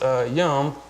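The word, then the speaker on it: יום: actual literal so there's a Hebrew word that's pronounced yum and YUM according to Strong's and new American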